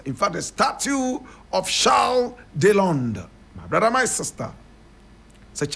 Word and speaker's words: Charles Deslondes: French pronunciation, Charles Deslondes. Charles Deslondes. Charles Deslondes. But in English, we say Charles Deslondes.